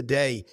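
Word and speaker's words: Derry: in the north notic I didn't say London Dair I said da that's right way the the Republic pronounces it um uh you know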